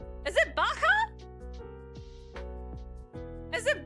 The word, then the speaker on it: Baja: LED you know it's Baja is it Baja is it Baja Blast why how does that well I guess sometimes you can't pronounce things the J as an H that's wild I don't